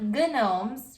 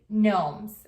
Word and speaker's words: gnomes: They're spelled G-N-O-M-E-S. So it's not gnomes, right? The G is silent. You just say gnomes.